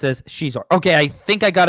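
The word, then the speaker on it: Xizor: Shizor is pronounced as Shizor.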